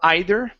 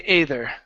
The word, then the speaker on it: either: this word here there's two ways to pronounce this word uh you could say either or either okay we do not say ather okay so try both of